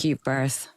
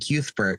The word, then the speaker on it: Cuthbert: And every time I'm like, dude, that's not fucking Cuthbert, man. That's it's not Cuthbert. It's Cuthbert. It's Cuthbert. It's like QU. It's cute. Cute birth.